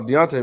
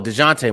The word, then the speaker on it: Dejounte: no Deontay Murray for the Spurs. Oh, DeJounte Murray. My DeJounte, bad. I'm pronouncing it.